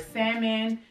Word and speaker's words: salmon: So I would always eat like salmon and L is silent.